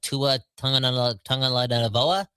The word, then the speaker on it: Tua Tagovailoa: comes to a guy like, I don't know, Tua Tagovailoa from the Miami Dolphins. How do you say his name? Tua Tagovailoa.